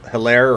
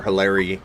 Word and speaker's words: Edwards-Helaire: Hilaire or Hilary? Hilaire. Oh yeah, Um, Hilaire. Hilaire. I think it's how you pronounce it, Hilaire.